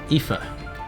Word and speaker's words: Aoife: If you're unfamiliar with this name, Aoife. It's an Irish name. That is how you spell it.